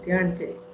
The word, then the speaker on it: guaranteed: Guaranteed. Guaranteed. Guaranteed. Guaranteed. Nhưng mà mình nhấn âm guarantee ở âm cuối á, chứ không phải là âm đầu như vậy.